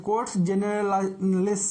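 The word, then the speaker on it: Cortes Generales: कोर्ट्स जनरलिस इस तरह से प्रोनाउंसिएशन होता है।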